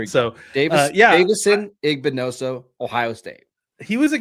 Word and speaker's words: Igbinosun: But tell us about Davison, and please pronounce the last name for me so I don't butcher it. I think it's Igbinosun. I hope so, because that's how we're going to say it. So Davison Igbinoso, Ohio State.